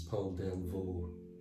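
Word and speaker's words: Delvaux: belgium who did the nudes and the skeletons paul delvo d-e-l-b-a-u-x i found out is how to spell its name those weird names so with all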